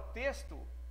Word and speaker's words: texto: Na palavra texto, ele tem fonema de S também.